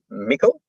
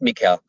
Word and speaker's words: Mikel: My name, for example, it's easy to say your own name, but it's often mispronounced because it's Mikel, but often people call me Mikel.